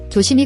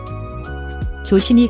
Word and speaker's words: 조심히: Watch your pronunciation, the SI syllable. The S sound changes to a SH sound when followed by I. So, is pronounced like she, not C.